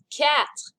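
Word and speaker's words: quatre: practice your french r number four cat which kind of sounds like meow it's a cat number five sank number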